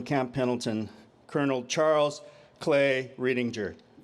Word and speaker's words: Riedinger: Pendleton, Colonel Charles Clay Riedinger. Hard G.